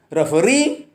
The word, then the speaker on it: referee: Most of the words ending in self, e, ia, et and ik take stress on the last syllable.